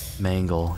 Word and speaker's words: Mangle: Mangle, yeah. Mangle, because that's really hard for me to pronounce. Because it sounds like a mango when I say that.